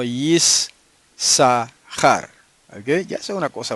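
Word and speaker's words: יִשָּׂשכָר: Y no es Yisashar, sino Yisahar.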